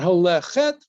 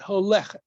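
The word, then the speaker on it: הולכת: Again, because the two segals at the last two syllables, the accent shifts from the last syllable to the next to last syllable. That's an ironclad rule. When you have two segals, the accent shifts back about a syllable, a syllable. Follow? Okay, we've mentioned that before. Okay. It's not holechet, but holechet.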